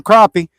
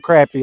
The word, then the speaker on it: crappie: said it correctly yeah that's what we call them crappie but you know I'm sure I ain't got the from different parts of the United States so people got accents so uh it might be people from surf Parts the United States call them crappy I don't know now